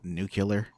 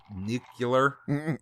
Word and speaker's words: nuclear: jingle bells no that was nuclear weapon it's pronounced new killer nucular new killer new a David